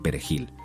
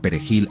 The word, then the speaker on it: perejil: Los hablantes nativos de criollo haitiano, cuyo idioma se basa en el francés, a menudo tienen dificultades con la R vibrante del español. Aquellos que no podían pronunciar perejil a satisfacción de los